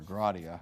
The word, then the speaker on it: sola gratia: So here we found one, the doctrine of sola gratia, or gratia, however you want to pronounce it, which means literally by grace alone.